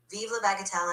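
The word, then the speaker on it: vive la bagatelle: Of course, viva bagatel in French basically means long live trifles or long live the trivial.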